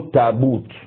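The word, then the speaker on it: تابوت: Donc il y a ceux qui prononcent tabout, d'autres prononcent tabou. Faqala al-Qurashiyun, dans les Quraïsh là, les Quraïsh eux ils prononcent tabout. Ils prononcent tabout. Maintenant Zed dit tabou avec H, tabou.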